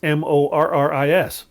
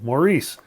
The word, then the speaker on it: Maurice: how you pronounce it same as you pronounce m o r r i s Morris but in the US